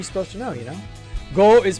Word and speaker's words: 五: Go is pronounced Wu. No. It is pronounced go. It's pronounced go in Japanese.